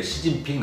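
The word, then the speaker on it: 習近平: 우리 어릴 때 말해서 습근평 그랬는데 시진핑 하잖아요. 한자는 습근평이거든요. 근데 중국 발음은 시진핑이잖아요.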